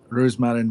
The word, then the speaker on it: Roosmaren: I'm assuming it looks like Rosemary in English, but it's that's right. Dutch. That's right. It's her name, Roosmaren van Tient.